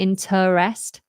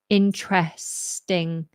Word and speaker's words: interesting: interesting okay that's interesting you got the T um straight into the R so we don't want to interrest just in interesting interesting that's interesting very